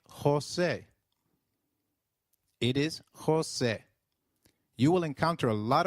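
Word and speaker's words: José: e I in 8 the letter J sounds like H in Spanish so try saying Jose it is Jose you will encounter a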